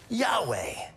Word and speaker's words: Yahweh: Yahweh.